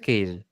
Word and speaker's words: keys: It sounds strange, but this word is pronounced keys. It's not the letter K.